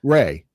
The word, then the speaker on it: Rhea: And it's pronounced Ray. Ray.